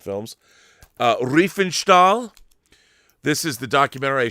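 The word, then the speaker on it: Riefenstahl: Uh Reefenstall this is the documentary I showed before on Blu-ray. It's on I mean on uh DVD it's on Blu-ray. Yeah. Um, correct pronunciation, Rob. Refall.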